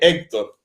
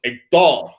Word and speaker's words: Héctor: En francés la ponemos siempre en la última. De hecho, mi nombre ya no es Héctor, es Héctor.